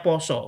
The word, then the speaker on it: pasa: Nanti disebut di situ puasa mestinya kan pasa ee tulisannya pasa tapi bacanya poso karena bahasa Jawa kan.